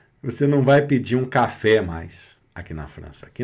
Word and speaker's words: café: Você não vai pedir um café mais aqui na França. Aqui na França, aí pode ser. Aqui na França é café. Café.